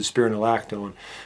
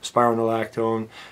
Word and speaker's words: spironolactone: their spironolactone, and yes, that is how you pronounce it, spironolactone. Spironolactone.